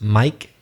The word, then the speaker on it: mic: talking about microphone and he knew that it's pronounced mike but written mic as a contraction well done yeah and